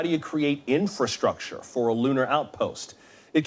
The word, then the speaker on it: infrastructure: infrastructure, 발음에 유의하셔야 되겠는데요. 우리말로는 인프라에서 발음하라 하기 쉬운데요. 영어식 발음은 어로 하셔가지고 infrastructure가 되겠습니다.